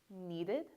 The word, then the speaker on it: needed: if your word ends with T or D, you're going to make sure to make that ed sound. So for example, this is wanted, this is started, this is needed, and this is decided.